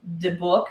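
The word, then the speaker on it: dybbuk: It's de book, I think is how it's pronounced.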